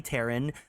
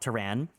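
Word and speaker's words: Terran: be the killer of clay Taran which I learned is pronounced Taran and not tan um Apollo has left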